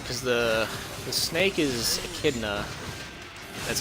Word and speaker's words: Echidna: and what's his name cuz the snake is echidna that's how you pronounce that and then fire demons burial it's